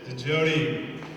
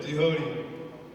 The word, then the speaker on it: DeJoode: Please welcome Chris DeJoode. I mispronounced it a little bit, DeJoode.